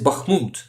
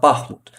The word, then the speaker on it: Bakhmut: But yes, Bakhmut, actually, the right way to say it is Bakhmut, not Bakhmut.